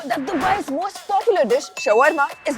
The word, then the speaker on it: shawarma: Did you know that Dubai's most popular dish, shawarma, is not even from Dubai? And there are about 100,000 shawarma sold every single day. And around 341,000 people mispronounce it and call it shorma instead of shawarma.